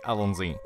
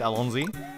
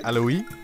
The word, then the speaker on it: allons-y: I can say bonjour, c'est un pont, and I can say allons-y. Except I believe that's actually pronounced wrong. When you say it allons-y. I think it's supposed to be alloy or something like that.